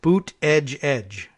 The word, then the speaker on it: Buttigieg: Pete Buttigieg? Yeah. That's how we pronounce it. I think I heard someone say it was like boot edge.